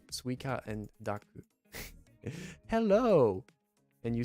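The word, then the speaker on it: スイカ: so we got am i saying it right suica and daku hello and you said i'm sorry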